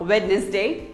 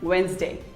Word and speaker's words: Wednesday: is another common word that most of us pronounce wrong wednesday most of us say it as wednesday but it is not wednesday it is actually wednesday say wednesday wednesday who doesn't love pizza but